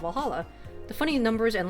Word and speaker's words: VA-11 Hall-A: you R well Hala the name sound silly and a bit hard to pronounce good thing it's actually called Valhalla the funny numbers and